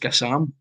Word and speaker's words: Gassama: to you about it, Gassama, I'm sure actually somebody said he's pronounced Gassam. I don't know if you've heard that. I'm sure it's French, yes, it's Gassam, so it's pronounced Gassam.